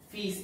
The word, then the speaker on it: fils: and next to it in a bracket you write pronounced as fees f-e-e-s so yeah these are